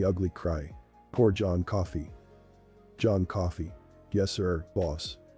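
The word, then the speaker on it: John Coffey: crying poor Jon coffee John coffee yes sir boss like the drink but not spelled the same I'm tired boss tired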